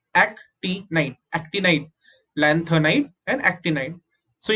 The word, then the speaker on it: actinide: AC is ac, ti is t, nid is night, actinide, actinide, lanthanide and actinide.